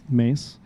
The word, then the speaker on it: Mees: Mace. I have to say Mees sometimes cuz people are like I don't they don't m e e s.